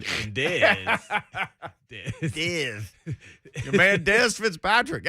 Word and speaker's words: Dez: Rhymes with Fez. and Dez.